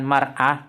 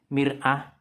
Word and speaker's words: mir'ah: Sekian, kalau ada khilafnya, tadi ana sempat khilaf menerjemahkan ya, bukan mar'ah tapi mir'ah.